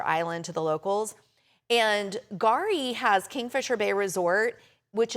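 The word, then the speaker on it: K'gari: It's called Gari. The K is silent. And it used to be called Fraser Island to the locals. And Gari has Kingfisher Bay Resort, which is big on ecotourism.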